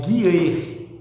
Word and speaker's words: Jireh: Por exemplo, eu vou escrever Jireh, eu escrevo Jireh, né? Jeová Jireh, como o povo chama, mas a pronúncia original é Guireh, viu?